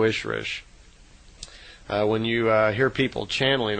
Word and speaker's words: Ishrish: And a female Ishwish is called an Ishrish, I-S-H-R-I-S-H. So in effect, Simyasi is an Elo Ishrish, is how they would pronounce it in her language.